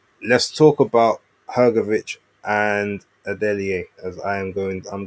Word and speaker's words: Adeleye: But there's a certain twang you have to hit it. And I don't have that twang cuz I'm not I'm not Nigerian. But yeah, he's like, "No, it's Adelaide."